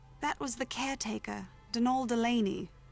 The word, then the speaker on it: Donal: That was the caretaker, Denol Delaney, not Donald. Mind you, there's no D at the end, so it's pronounced Dol.